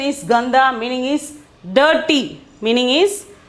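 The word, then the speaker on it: गंदा: okay the next one is ganda okay ganda pronunciation is gandha meaning is dirty meaning is dirty ok means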